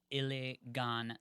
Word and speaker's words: Iligan: But you did like before say Iliganza, which made I know, me and then definitely want to say that.